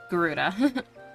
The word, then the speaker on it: Garuda: to summon their bloodthirsty primal Guardia Garuda Garuda I'm very certain that's how you pronounce it okay okay the cells by contrast